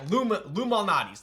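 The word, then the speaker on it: Lou Malnati's: Yeah, but it's not spelled like Illuminati's. It's like, I forgot how it's spelled, but it sounds like Illuminati's. Yeah, Lumalnati's.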